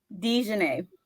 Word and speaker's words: Dijuena: can't speak this morning the correct pronunciation dj dj yes nice dj that's a